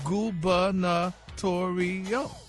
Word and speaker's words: gubernatorial: It's an adjective, and it's pronounced gubernatorial.